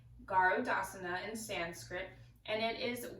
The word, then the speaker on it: Garudasana: to do Eagle pose now Eagle pose is pronounced garde asana in sanskrit and it is one of the